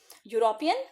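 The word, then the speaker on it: European: तो a university, यूरोपियन, फिर से य की साउंड है।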